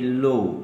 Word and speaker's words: law: हैं this should be low. Low. Low. Low. Low. Low. Low. L A W low. Don't pronounce it la.